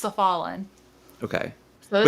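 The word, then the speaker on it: s'Ffalenn: In the audiobook, it's pronounced Cephalin.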